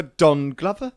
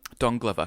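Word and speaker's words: Donald Glover: okay so except for Don Glover Don Glover not to be pronounced dong lover which is something entirely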